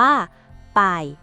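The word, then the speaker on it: 百: หลัก ร้อย เลย นะ คำ ว่า ร้อย ออก เสียง ว่า ป่าย อีก ที นะ ไป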